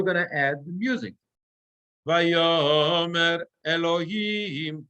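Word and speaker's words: וַיֹּאמֶר: Vayomer Elohim, and I'm very clear that ta, the melody, tarara, vayomer, right? It's on the yud. Vayo, it's not vayomer, right?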